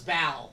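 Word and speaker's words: Baal: Ball. I have no resources to my life. Yeah, so B-A-A-L is bow.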